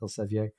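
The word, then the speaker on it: Elsevier: modern day Publishing House spelled differently but still pronounced El Sevilla and pomponius Mela was a Roman geographer his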